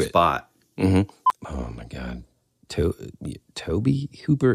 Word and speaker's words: Tobe: Oh my God, Toby Hooper. It's spelled T-O-B-E. Do you think it's Toby or Tobe? I mean, it has to be Toby, right?